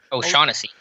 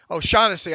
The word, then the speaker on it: O'Shaughnessy: How do you pronounce his last name? O'Shaughnessy. O'Shaughnessy.